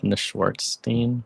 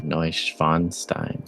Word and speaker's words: Neuschwanstein: Do we finally show off Neuschwanstein? And should we Google how to properly pronounce the name of this place? I've just been taking how you said it at face value, damn. Neuschwanstein.